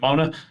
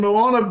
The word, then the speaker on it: Moana: Just think about how everybody mispronounced Moana whenever it came out. Mona, Envy. Not Mona. Had Moana taking place up Sookie's Creek, it would have been Mona.